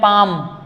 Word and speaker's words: palm: जैसे PALM, पाम, पाम का meaning क्या होता है, हथेली होता है, ठीक है ना।